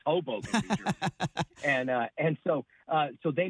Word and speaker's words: Hoboken: It's Hoboken, New Jersey.